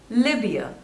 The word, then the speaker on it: Libya: Liberia next is Libya Libya two syllables and the stress is on the first one Libya Libya Libya next